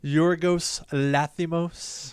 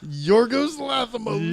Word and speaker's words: Yorgos Lanthimos: No, I can't even pronounce that name. Yorgos Lanthimos. Yorgos Lanthimos.